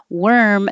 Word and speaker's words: worm: totally change the meaning worm the animal is like were where were you plus an m so think of were where were you with an M worm and War spelled with